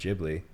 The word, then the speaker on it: Ghibli: Well, yeah, I call my cat Ghibli, even though it's named after Studio Ghibli, which is pronounced Ghibli.